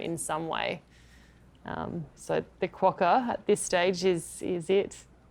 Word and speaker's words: quokka: I have never seen a quokka. We've got to get the pronunciation right. Quokka. Quokka.